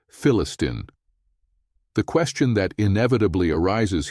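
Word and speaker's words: فلسطين: Due to the absence of the letter P in the Arabic alphabet, they pronounce the word Palestine as Philistine.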